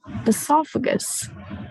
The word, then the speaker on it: oesophagus: Okay, it's actually a silent O. So you try like you say it with the E as the start, but actually it is spelled with the O at the start.